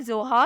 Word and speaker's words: ZOHA: नाम है जोहा, स्पेलिंग है ZOHA।